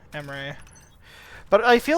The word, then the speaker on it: Emre: It's spelled E-M-R-E, Emery.